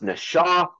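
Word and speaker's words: נחש: is spelled NASA for beguiled or deceived it's pronounced Nasha and and there's no denying that that these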